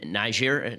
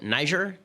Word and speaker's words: Niger: Johnson was killed in in Nigeria Niger Nigeria now said everyone's pronouncing it differently I'll call it Niger because I speak English and in any case